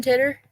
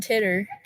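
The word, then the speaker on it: Titor: you ever hear John titter who isn't that how you pronounce it titter TI t o r I think is did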